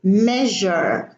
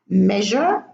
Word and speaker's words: measure: in the hidden Sam's lecture in the word measure the S is pronounced as a job but there is a